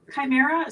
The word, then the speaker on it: chimera: So chime is what is a kimer and spell that for him but it's c a r t cell the so chimera.